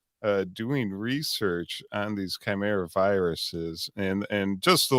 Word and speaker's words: chimera: there he always gets on me about my pronunciation of time areas it's Chimera if you want to sound pronounced professional it's